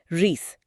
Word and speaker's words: wreath: फूलों का गोल हार, रीथ। इसकी स्पेलिंग ध्यान दें, WREATH। W साइलेंट है। हाँ, उच्चारण रीथ जैसा है।